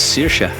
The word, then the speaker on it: Saoirse: Tell us her name because nobody can pronounce it. This is Saoirse.